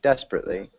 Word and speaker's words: desperately: and desperately oh yeah you're pronouncing an extra syllable that looks like it's there that's not desperately desperately good perfect okay and Javier